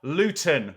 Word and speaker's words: Luton: Luton with a T versus Swansea.